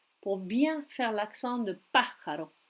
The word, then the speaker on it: pájaro: Là encore, je peux écouter la prononciation et m'entraîner pour bien faire l'accent de pájaro. L'accent tonique se situe sur le A accentué et pas ailleurs.